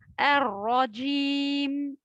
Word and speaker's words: الرجيم: Le takrir, malheureusement, certains multiplient la lettre ra. C'est comme si j'ai mis 4 ou 5 ra. Arra, arra. C'est faux, bien sûr. Il faut dire ar-rajim, ar-rajim.